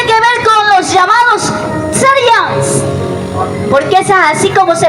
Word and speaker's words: therians: cavidad y tiene que ver con los llamados sarians, porque es así como se pronuncia, sians o teria.